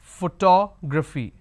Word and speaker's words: photography: Okay, it's photography. Photography. So how many vowel sounds do I have? 1, 2, 3 and 4.